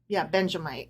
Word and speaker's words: Benjamite: which he sang to the Lord concerning Cush, a Benjamite. Okay. Benjamite. I was trying to add in an additional syllable.